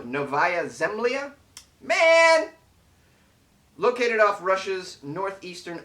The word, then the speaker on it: Novaya Zemlya: bears into residential areas novaya zamaya located off did i say it right no novaya zemlya man located off russia's